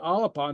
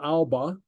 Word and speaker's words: Alba: Alapa, we say alapa, not alba. Okay. Alapa. Note the insertion of the A.